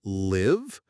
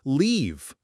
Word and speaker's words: live: When I first tried Grammarly's pronunciation feature, I realized I was saying live, like leave.